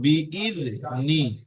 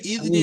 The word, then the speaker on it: بإذن: তাহলে ফিহা বিইذনি فيها দেখেন বাজের বি, হামজা দালজের ইদ, বিইذনি। إذني শুধু শুধু ইদনি নয়, বিইذনি।